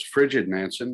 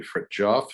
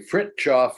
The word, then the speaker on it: Fridtjof: to referred to the man in question as frigid manson now she's not wrong um i'm sure he spent most of his life rather cold but it's actually fritz off so i'm going to um just to start